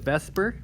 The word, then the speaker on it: VSEPR: We just pronounced it Vsepr, but it's V-S-E-P-R.